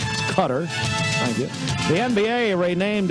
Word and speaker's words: Qatar: That's how you say it. It's not Qatar or whatever. It's Qatar.